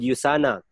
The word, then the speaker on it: USANA: Our company is called USANA. You have to mention, you have ulitin po lagi natin. By the way po, ang pag-pronounce niya po, sir, ma'am, it is U. It's not U, but U. USANA po.